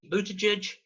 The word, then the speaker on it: Buttigieg: Pete Buttigieg is, as you see from the hats on the right there, that's how you pronounce his name, his event took place in